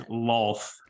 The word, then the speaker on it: Lolth: got sieged by the how do you pronounce it? Loloth, I think. The Spider Queen. I've heard a lot of it is Lolth.